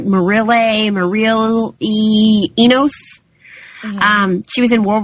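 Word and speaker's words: Mireille Enos: I always say her name wrong. It's like Marille Enos.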